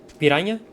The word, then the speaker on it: piranha: Whenever you see NH, it's pronounced nya, like GN or the N with a tilde.